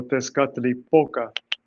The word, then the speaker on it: Teskatlipoka: Okay, the second to the last syllable is where you put the stress. So, Teskatlipoka.